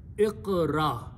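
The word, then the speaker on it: اقرأ: So first thing is that I'm going to put an alif in the beginning with a zair. Second letter has a sukoon, so it will be pronounced as iq. Third letter has a zabar, this one. Fourth letter has a sukoon. So the pronunciation will be Iqra.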